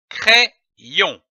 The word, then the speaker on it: crayon: Lorsque l'Y est placé entre deux voyelles, il se prononce comme un double I. I. C-R-A plus Y donne la syllabe cré. C-R-A-Y, cré. Ajoutons la syllabe on, O-N, on. L'association de ces deux syllabes donne le mot crayon.